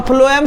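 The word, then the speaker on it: phloem: लिखा रहा है, तो फ्लोएम सुनने में कैसा प्रोनाउंसिएशन कर रहा है, एफ कर रहा है।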